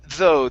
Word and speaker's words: though: have the word though instead of the it's though the gh is silent though though okay one